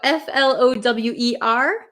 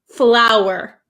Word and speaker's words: flour: u r Okay so these are both pronounced exactly the same so don't worry they're both pronounced flower flower so f l o w e r it has a w flower and the other one like a how you with h for cooking flour it's exactly the same even